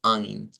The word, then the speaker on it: ein: lleven diptongo EI, nosotros vamos a utilizar el sonido I. Entonces, ein es el número uno, digamos, en alemán. Vamos a llegar acá. Recuerden que estamos utilizando la plataforma de Wiktionary en su versión en inglés, por lo cual, ¿verdad? Vamos a encontrar la respuesta acá. Aquí se nos dice, pues, el sonido debe ser ein, ein.